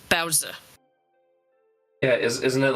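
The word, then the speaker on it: baozi: The correct pronunciation is Bowser.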